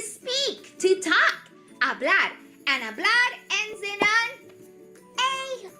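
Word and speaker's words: hablo: Did you remember that that H is sh silent? We write it but we don't say it right.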